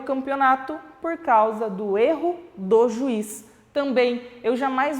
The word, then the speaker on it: erro: pronúncia e erro substantivo então eu vou pronunciar esse é de uma forma mais fechada na primeira pronuncio erra na segunda como substantivo e pronuncio erro mais fechada ainda um som vocálico mais mais fechadinho então olha lá o